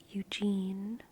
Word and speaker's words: Eugene: And I think that's how Mandy Moore says it, because she doesn't say Eugen. She says Eugene. Eugene. There's a tonal quality to it that kind of tonally heightens the U, but they're still both like fully pronounced.